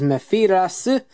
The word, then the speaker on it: Mefilas: Alright, so here's Mefilas, or Mefilas, or whatever you want to call them in terms of pronunciation. The actual kana is Mefilas, so take that as you will.